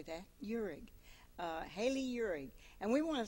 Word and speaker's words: Uhrig: Uhrig. Spell that. Uhrig. I can say that. Uhrig.